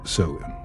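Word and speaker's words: Samhain: years ago it's October 31st the night of sawin pronounced soen for the Kelts this is a night unlike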